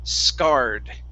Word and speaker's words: scarred: Okay, so this word here is pronounced scarred. Scarred. Scarred. Scarred. Mm-hmm. Yeah. So if it has two R's, that's going to be the R sound. One R is scared. Two R's, scarred.